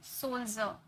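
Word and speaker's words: soldier: सोल्जर, यहाँ पर डी के बाद आई आर ई नजर आ रहा, तो इसे हम जॉ में प्रोनाउंस किए, सोल्जर। ओके, अब एक चीज मैं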